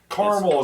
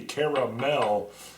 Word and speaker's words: caramel: He said, "Caramel has got two syllables, not three. Caramel."